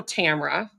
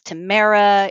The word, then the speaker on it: Tamara: And it's Tamara, it's Tamara, it's Tamara with 3 syllables, it's Tamara with 2 syllables.